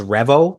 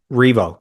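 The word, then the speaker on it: R.E.V.O.: So is it pronounced revo like revolution? Revo. Revo.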